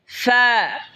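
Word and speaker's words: فاء: এরপর হলো ফা, ফা, ফা জিহ্বার ঠোঁটের পেট সামনের উপরে দুই দাঁতের আগার সঙ্গে লাগে উচ্চারণ হবে ফা, ফা।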